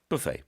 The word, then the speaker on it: buffet: 뷔페 영어식으로 하면은 Buffet. buffet. 네, 이렇게 발음을 합니다.